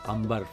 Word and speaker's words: Amer: आमेर का किला इसे कहते हैं, जबकि स्पेल आउट करें तो AMBER अंबर फोर्ट, लेकिन ज़्यादातर स्थानीय कहें या इसे आमेर फोर्ट के नाम से ही प्रोनाउंसिएशन किया जाता है।